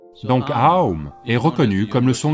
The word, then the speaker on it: Aum: Si vous prononcez ces trois sons ensemble, qu'obtenez-vous? Ce n'est pas Om.